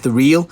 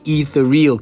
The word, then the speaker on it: Ethereal: overall and I must apologize that I've been mispronouncing the name I've been calling this the eal I mean sorry guys sometimes I do read